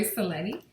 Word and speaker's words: Cerletti: Hi everyone and today we've got Cleti. Is that how if I said it right, your last name? Yes, you did. Thank you. Okay, so we've got Cleti with us today and you're an ET experiencer abduction.